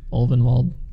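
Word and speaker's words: Ulvenwald: Yeah, Ovenwald, that's how you say it.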